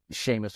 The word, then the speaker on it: Seamus: Seamus.